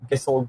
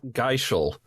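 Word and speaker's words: Gysahl: If you recall, in Final Fantasy, Gissel greens is what you give to chocobos. Not Geishel.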